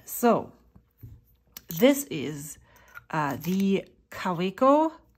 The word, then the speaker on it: Kaweco: this is uh the kaweko no actually let me pronounce it the way that a German would because I am German the kaviko Al spot uh golden